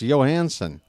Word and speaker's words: Johansson: I'm like, that's how it's pronounced, okay? It's Johansson. You guys jode it up. I know how that name's pronounced. Ramon Laureano is at the